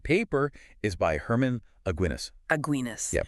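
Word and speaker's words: Aguinis: Aguinas. Yeah, pronounced just like that beer.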